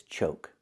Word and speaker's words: choke: And this is choke, with a long O sound like Coke, choke.